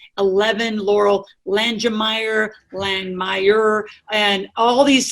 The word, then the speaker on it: Langemeier: So it's actually Langemeier. Langemeier, Loral Langemeier. It's like to Langemeier. The Yes. E silent, and it's German.